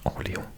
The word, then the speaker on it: Orléans: Of course, in America it's New Orleans, but it's pronounced Orléans in French.